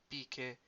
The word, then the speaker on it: μπήκε: So remember, MP is the B sound, so μπήκε στο σαλόνι.